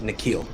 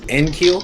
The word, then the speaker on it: Nikhil: my sources indicate that his name is pronounced nikhil thank you i thought it was in keel like in sync but it's not it's not kill which is a better